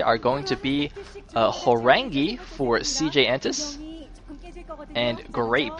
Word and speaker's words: Horang2: are going to be Horang2 for CJ Entis and Grape for Samsung Khan. Now, Horang2 is actually written Horang2 because apparently in Korean the 2 is actually pronounced as E.